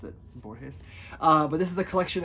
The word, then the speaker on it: Borges: Borges? I think that's how you pronounce it. Borges.